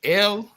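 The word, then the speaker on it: אל: I clearly said I clearly said in the Ugarit, it's pronounced Il. It's spelled Aleph Lamed. In the Hebrew, it's pronounced El.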